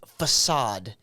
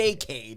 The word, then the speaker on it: facade: It's facade. Oh, really? The facade. I like facade. the facade, though. It's like a new take on the arcade. It's the fakeade.